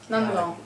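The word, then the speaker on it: Nandgaon: of Nandagram, it says Nandagoam. Nandagoam. Is that the same as Nandagram? Gaon is It's just the village. way to pronounce it. Gaon in Hindi is village. That's the way you pronounce it. Nandagaon.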